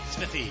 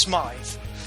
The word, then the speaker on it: Smythe: uh professor bt smithy greetings and salutations it's smythe but uh people keep getting my name wrong anyway we are the